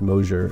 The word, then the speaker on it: Mosher: Looks like Mosher, pronounced Mosher, MOSHER.